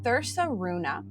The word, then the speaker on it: Thursaruna: So this book was written by Ran and I believe it's pronounced as Thersa Runa.